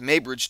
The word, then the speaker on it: Muybridge: That's actually spelled M-U-Y-B-R-I-D. GE, but I believe it's pronounced Muybridge, Edward Muybridge.